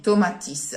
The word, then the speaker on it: Tomatis: Tomatis. Tomatis. And it's pronounced this way because, in spite of being French, he was from Provence, he was from Nice, and that's the way you will say his last name.